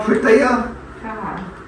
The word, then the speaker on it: Pritaya: Am I saying it wrong? Pritaya? Yeah? Okay, thank you.